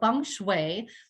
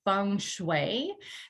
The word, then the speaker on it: feng shui: and how does it affect our lives so feng shui literally translates to wind and water and it's pronounced feng shui that's a helpful pronunciation there because a lot